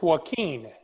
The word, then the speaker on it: Joaquin: Is it It's Joaquin. Joaquin? You know, like Joaquin Phoenix?